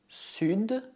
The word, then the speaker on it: sud: Exceto le nord, todas as outras consoantes finais devem ser pronunciadas. Le sud, l'ouest, l'est.